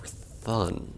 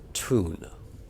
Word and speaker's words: Thun: For Thun, that's not even close to how that planet's supposed to be pronounced. And here we are, the dreaded underwater level. This is where the difficulty ramps up and becomes mostly just annoying. Now, I've had this explained to me before, but apparently the name of this planet is supposed to be pronounced Toon, because it's something like Icelandic or something.